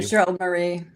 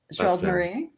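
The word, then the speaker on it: Gérald Marie: How do I pronounce Gerard's last name? Gerald Marie. Gerald Marie.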